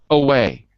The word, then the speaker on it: away: So, away. 2 syllables, right? Away. Second one.